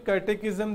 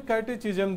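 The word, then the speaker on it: catechism: अच्छा देखो, इसका प्रोनाउंसिएशन ऑक्सफोर्ड में कैटेकिज्म दिया है, और जो कुछ डिक्शनरी है ना उसमें कैटेचिज्म दिया हुआ है, कहीं चिज्म है कहीं किज्म है, तो जो भी आप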